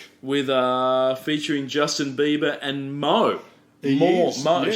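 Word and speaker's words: Mø: we were talking about, the O with a dash through it in Mo is a Danish vowel that's hard to pronounce in English. It's similar to the in the French word bleu, like as Okay. in cordon bleu.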